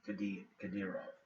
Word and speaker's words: Kadyrov: a man named Ramzan Kadyrov. I'll spell it Ramzan. That's his first name, relatively simple. And the last name again is Kadyrov, Kadyyrov. Russian is a very phonetic language once you think about that.